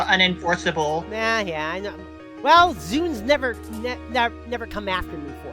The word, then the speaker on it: ZUN: No, ZUN. The name of the creator of Touhou Project. No, I was not talking about the Microsoft Zune. No. It's pronounced the same way, of course.